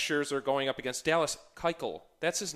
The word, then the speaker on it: Keuchel: We got Max Scherzer going up against Dallas Keuchel.